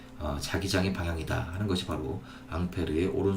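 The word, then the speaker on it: Ampère: 분인데요 우리 전류의 단위는 암페어 줘 영국식 빠른 브라운의 남태현 때 2분을 불어로 하면 어 앙페르 려고 발음합니다 그래서 암페어 와 앙페르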